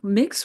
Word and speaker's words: Mx: Yeah, mix was one of those things I was working when I was working on Spareman. Learned that that is MX, pronounced mix, is in use in